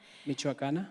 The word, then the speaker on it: Michoacana: He holds an architectural degree from the Universidad de, I just asked how to pronounce this again. Michoacana.